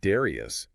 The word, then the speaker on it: Darrieus: and the Darrieus, pronounced Darrieus.